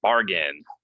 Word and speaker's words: bargain: One is the stress, bargain.